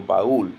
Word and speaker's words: baúl: When a strong and weak vowel can also form el hiato when one of them is accented. For example, baúl, meaning trunk.